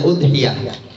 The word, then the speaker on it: udhiyah: Jadi udhiyah itu dibacanya udhiyah, hamzahnya didommahkan.